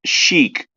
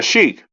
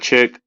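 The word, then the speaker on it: sheikh: called thinking Jesus Christ Sheik is pronounced chic yeah chic not chick are are you talking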